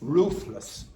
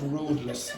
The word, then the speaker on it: ruthless: Ruthless. Does anyone know ruthless? What's that mean? Don't be rude. No, not rudeless. Ruthless. And don't say without roof.